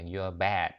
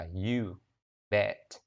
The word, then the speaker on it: you bet: Nếu mà các bạn phát âm lộn người ta nghe thành là you're bad thì chết nha. You're bad thì không đúng nha, phải là you bet. Chứ đừng có nói thành you're bad.